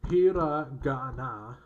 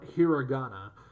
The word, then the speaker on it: hiragana: including myself is offended it's pronounced hiragana or hiragana if if you prefer the if you prefer the correct english pronunciation but like i know